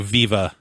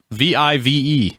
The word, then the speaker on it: Vive: yeah yeah okay any spell it V I ve accent on the e yeah I mean I immediately read it as vive like it sounds kind of like vibe maybe I that sounds